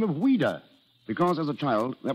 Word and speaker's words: Ouida: But why did she use the pen name of Ouida? Because as a child, that was the way she pronounced Louise.